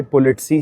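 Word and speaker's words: politsei: साथ में यहाँ पे पुलिस को पोलिटसी बोलते हैं भाई, पोलिटसी, क्योंकि हर कंट्री में अलग प्रोनाउंसिएशन होती है। तो यहाँ पे पोलिटसी है, पॉलिसी भी होती है, पुलिसी भी होती है, पॉलिस भी होती है, ठीक है, तो यहाँ पे पॉलिट्स ही बोलते हैं।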